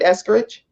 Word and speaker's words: Eskridge: And am I pronouncing your name right, Eskridge?